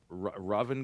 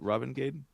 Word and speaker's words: Ravengade: Uh Raven God. Ravengade. Going to Stockholm Open CCQ. There's no R. There's no second R. There's only a first R. It's Raven. Ravengade.